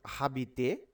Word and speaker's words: habiter: It is not habiter. You have to pronounce this word as habiter. You have to pronounce from here A B I T O R. That means habiter, because ash is phonetically silent.